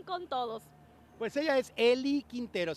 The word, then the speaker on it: Ely: Pues ella es Eli Quintero, se escribe E-L-Y, Eli Quintero, el tema se llama